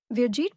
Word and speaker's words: Vjit: Pum Raj Dilak VJ Vjet pronounced as V as in victory and Jeet as in jeep.